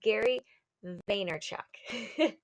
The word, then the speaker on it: Vaynerchuk: gonna tell you what was his name is Gary Vaynerchuk okay so he's all about like just go